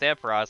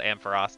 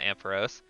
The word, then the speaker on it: Ampharos: it ampharos but it is it is officially pronounced ampharos there is two sources to confirm that it is called ampharos not ampheros all right cool let's throw a ball at